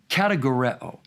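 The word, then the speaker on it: κατηγορέω: It's a word from a root in Greek that would be pronounced kategoreo, a noun form kategoros, or another noun form, categoria.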